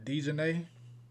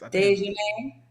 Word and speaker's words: Daejhanae: So how do you say her name? Dejanay? I think it's Daejhanae. Dejanay.